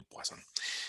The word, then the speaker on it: Poisson: Para los que les gusta el francés, bueno, pues así se pronunciaría, relación de Poisson.